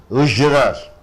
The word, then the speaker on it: usurer: Ujrar is a noun. You stress on 2 syllable, Ujrar. You say ujrar. A money lender charging heavy interest. A money lender who charges heavy interest is called usurer.